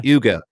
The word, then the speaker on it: Hugo: out to Hugo Perera that there is uh Yugo Yugo is how you say it let's see there